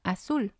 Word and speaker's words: azul: And then we have azul. Azul. It means blue. And again, it has 2 syllables. And we're going to stress the last one.